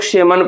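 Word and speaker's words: salmon: लेकिन देखिए इसको हम लोग सेलमन नहीं पढ़ते। इसे हम लोग सेमन पढ़ते हैं। क्या पढ़ते हैं भैया? सेमन पढ़ते हैं। तो ये हमारा एल क्या हो जाएगा? इसका साइलेंट हो जाएगा।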